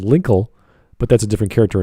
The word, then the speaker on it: Linkle: was a name lengthy it rhymes with twinkle twinkle little star it's perfect there you